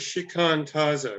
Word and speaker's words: shikantaza: You pronounce it shikantaza, right? Yeah.